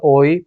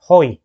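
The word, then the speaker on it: οἱ: 오이가 아니에요. 호이. It is not oi, but it is with the high pronunciation. So you should read it as 호이.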